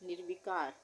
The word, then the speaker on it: निर्विकार: ठीक है, तो यहाँ पे हमने निर्विकार में रेफ की मात्रा लगानी है आधे र के उच्चारण के लिए, तो निर्वी हो गया। उसके बाद कार, निर्विकार।